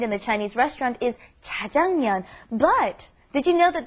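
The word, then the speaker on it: 짜장면: But actually the real pronunciation is Jajangmeon.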